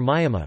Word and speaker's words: Myamah: Depending on the register used, the pronunciation would be Bama pronounced BMA or Myama pronounced Mijma.